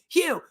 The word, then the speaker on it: HU: then begin to sing phew pronounce like the word Hue in a long drawn